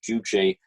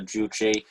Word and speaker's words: Juche: of socialism uh i've i thought it's it's pronounced juje but maybe this is just uh the way that english i'm you're a better expert than i am on this uh i i think i i'm pretty sure it's pronounced uh juche anyway these african com